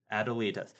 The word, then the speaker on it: Adelita: Okay, so I was pronouncing it wrong. Adelita.